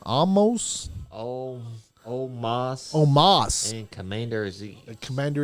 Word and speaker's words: Omos: Omos.